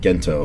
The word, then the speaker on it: Gento: Gento. Okay, with the hard G. With the hard G instead of the G instead of the Gento.